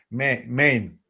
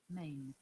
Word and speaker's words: mane: Main. Yeah, Mane. Mane. You're right. 100%. Yeah. Okay. Sounds exactly the same like main reason or main question.